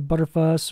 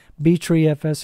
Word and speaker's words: Btrfs: So it's creating the BTRFS or the Butterfuss or BTreeFS, however you want to pronounce it, on the dev SDA partition, SDA2 rather.